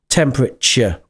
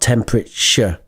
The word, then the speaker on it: temperature: the pronunciation is CH temperature not temperature temperate CH like church or right uh and